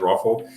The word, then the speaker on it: ROFL: you know if you if you say it like rafle um you can also